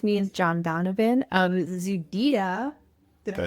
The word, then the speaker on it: ZEDEDA: I'm with the Breaking Badness Cybersecurity podcast, and with me is John Donovan of ZEDEDA. Did I pronounce it correctly?